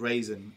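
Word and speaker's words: Rasen: a double whammy movie it was called raisin not as in the toast yeah not as in raisin toast um r a s n is how it's spelled but it was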